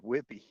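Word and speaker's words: Whidbey: It's called Whippy. Oh, Whippy. Okay. Oh, I love the way you pronounce it.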